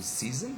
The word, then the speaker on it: season: Okay, then we have got like for example season, the first syllable is stressed, and seasonable, the first has got stress, okay.